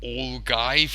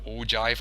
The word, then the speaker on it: ogive: some some days ago I used the word all guys instead of ogive I got both the spelling wrong and the pronunciation wrong so I apologize for